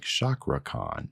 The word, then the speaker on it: CakraKhan: again a cockroach and i'm believing that's pronounced the same as like chakra khan chaka khan but with r in there anyways new artist to